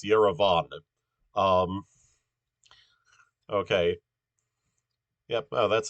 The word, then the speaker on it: Yerevan: That in Armenian the stress is always on the last syllable. So you have, for instance, Yerevan.